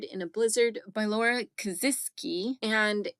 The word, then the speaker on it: Kasischke: it last week it's it's spelled like it looks like it should be pronounced Kish or something like that but it's actually kazis so there you go